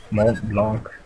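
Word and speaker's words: Montblanc: call me malt blank malt Blanc that's how French would pronounce it but I will pronounce sit Monte blank however I want it come with me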